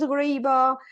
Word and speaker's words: ghariba: So will you pronounce the traditional name for it again? Ghariba, Riva? yes. Almost like with an Ghariba.